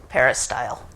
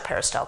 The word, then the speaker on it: peristyle: called a par style Court this is how it's spelled p e r i s y l e peristyle p e r i s t y l